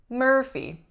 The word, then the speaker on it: Murphy: one we have Murphy Murphy two syllables winner is on the first or even though it is spelt as you are there's no ooh quality to the ER sound the pH makes that F sound and the final vowel is a tense e Murphy Murphy next one